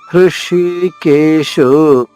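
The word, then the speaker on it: హృషీకేశ: పాంచజన్యం మళ్ళా పాంచజన్యం హృషికేశు, హాకి రుత్వము రుకారం అనమాట, తేలికగా చెప్పాలి.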